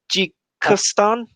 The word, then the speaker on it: Tajikistan: Beijing implies, how do you pronounce this, man? Ta- Tajikistan?